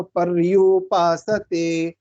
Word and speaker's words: पर्युपासते: होती है, तो पर्यु, इसको थोड़ा वाइब्रेशन के साथ बोलते हैं, पर्यु पर्यु, इस तरह से आना चाहिए। अगर सही उच्चारण इसका होगा तो पर्युपासते, जब हम बोलते हैं थोड़ा सा जीभ वाइब्रेट होगी, पर्युपासते, ठीक है।